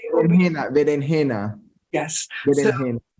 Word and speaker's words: berenjena: Berenjena. Yes. Berenjena. So the Jews called them berenjena because they kept the old accent before it changed to ch.